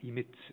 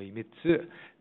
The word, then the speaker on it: Emitz: wheels the emsu series emit TZ in English pronounced emitz here in Japan or imit the four or five